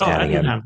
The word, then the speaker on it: Attingham: This is a house in Shropshire, England, owned by the National Trust, and it's spelled Attingham. It's pronounced Addingham.